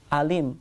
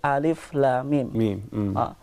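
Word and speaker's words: الم: they are individual letters we just pronounce its / Utley so we cannot say for instance a limb or Allah but we put on it spiritually we say Alif Lam Meem so what does these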